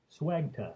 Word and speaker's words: Swegta: I'm not going to play his video, but Swegta, that's right.